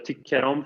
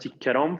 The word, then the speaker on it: tycker om: Así es como reconocemos los partikelverb, porque los partikelverb se pronuncian con énfasis en la preposición. Jag tycker om filmen.